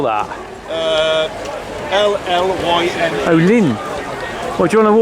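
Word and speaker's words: Llyn: Oh, Lynn. Well, do you want to walk down here? Want to look down here? Yeah. Texels? So although it's pronounced Lynn, it's spelled Lynn.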